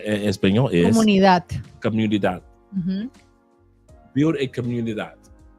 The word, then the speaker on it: comunidad: Build a comunidad. Did I pronounce it correctly? Yeah, you said it right.